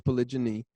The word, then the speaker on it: polygyny: want to pronounce it, people say it's polygyny, all right, it's the proper word.